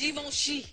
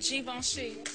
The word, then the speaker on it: Givenchy: Givenchy. Oh, it's French. Try it. Givenchy.